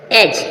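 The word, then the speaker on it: edge: बिल्कुल लर्न कर ले एज एज मींस किनारा एज एज मींस किनारा जी से पहले डी आया डी साइलेंट है एज एज मींस किनारा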